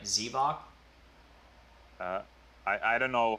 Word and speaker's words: Xevoc: say it either way in the finnish pronunciation it's with a not e would you mind saying it for me okay oh zavoc not z like an